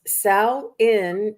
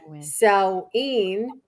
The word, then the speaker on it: Samhain: It's pronounced Samhain in Ireland, Samhain in Wales, Samhain in Scotland, and pumpkin spice in America.